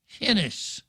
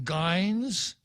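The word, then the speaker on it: Gines: would pronoun it's g-i-n-e-s i would pronounce it hennis that would be the the pronunciation using the orthography from spain hennis but i got a feeling that some people would call her bernadine geins and others might call her bernadine jennis but uh i guess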